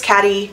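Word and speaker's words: Cady: the Plastics Janice manipulates caddy it's pronounced like Katie into infiltrating their group to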